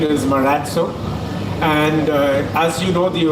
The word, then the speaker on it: Marazzo: Miraj what's correct yeah so the correct pronunciation is Murat so and as you know the origination of it